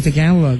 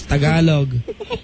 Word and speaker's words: Tagalog: you all right so stop saying t galog right It's Tagalog tagalo okay Don't say balot